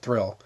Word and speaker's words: Thuril: But it was essentially Audax Quint, and his name that they gave him was Thuril, Thuril, and that's Draconic for friend. You pronounce it Thrill.